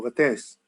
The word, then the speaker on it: Vates: Quest'oggi abbiamo un webinar organizzato con Vates, o Vates, come meglio si pronuncia in francese, che è un nostro